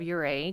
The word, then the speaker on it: Ouray: Ouray. Yeah, no, don't call it that. It's spelled O-U-R-A-Y.